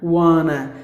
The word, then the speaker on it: wanna: to get the ocean Oh gives the sound here just like ah wah nah wanna so that's how we have to pronounce the word maybe if you refer